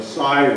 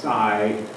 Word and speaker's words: sei: with it too the Sigh whale uh SEI U Scandinavian word pronounced Sai and the the little